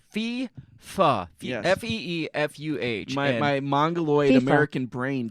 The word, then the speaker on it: FIFA: It's an E, like Spanish.